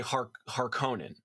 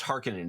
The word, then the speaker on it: Harkonnen: house harkonnen here's so in the 84 movie they say harkonnen yeah but it should be pronounced harkening it's a a lot